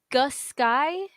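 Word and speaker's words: Aughisky: But Agusky, it's SKY, not SKI.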